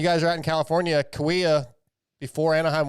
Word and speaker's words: Kauai: I've always said Kahia, but I'm almost positive the locals say Kauai. Oh, I always said like Hallelujah or something. No, it's definitely not that. I think it's Kauai.